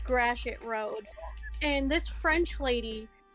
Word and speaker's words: Gratiot: second, and he goes, you mean Gratiot? And she just looked so scandalized. She's like, it's pronounced Gratois. And he goes, listen, I don't know how y'all pronounce it in France, but here in Michigan, where the road actually is, it's Gratiot.